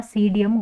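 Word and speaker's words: Psidium: का scientific name होगा सीडीएम गवा जवा ठीक है तो पी पी साइलेंट होगा इसमें सीडीएम पी एस आई डी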